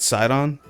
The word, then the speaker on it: Sidon: Real quick, how do you pronounce his name? What is it? Sidon. Side on this dick.